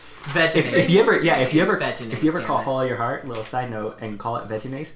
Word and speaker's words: Vegenaise: No, you say veganese? You're dumb. No. Just kidding. It's vegenaise.